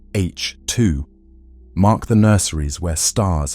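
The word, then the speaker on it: H II: These regions, known as H2 regions, pronounced H2, mark the nurseries where stars have just formed.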